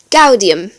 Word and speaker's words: gaudium: G is always hard like the English goat. An example of this is gaudium, which means joy.